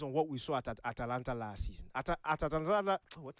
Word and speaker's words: Atalanta: And I'm using it based on what we saw at Atalanta last season.